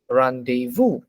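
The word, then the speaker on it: rendezvous: will just say it it is randevu randevu now if you try to read it based on how it is spelled based on which is of course not correct okay number three anyone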